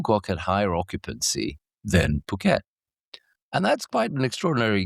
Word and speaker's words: Phuket: Can you compete with Phuket?